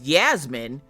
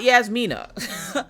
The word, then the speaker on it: Yasmin: It's Yasmin, not Yasmina.